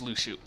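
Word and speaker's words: Luxu: now case of Lu Shu and yes it's pronounced Lu Shu oh thing okay [ __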